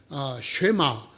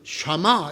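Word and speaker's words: שמע: 쉐마 또는 샤마 이렇게 발음할 수 있는 글자인데요.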